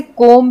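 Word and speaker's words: comb: तो जैसे कोम्ब है, कोम्ब में बी साइलेंट है, हम इसे पढ़ते हैं कोम्ब, हम इसे कोम्ब नहीं बोलते हैं।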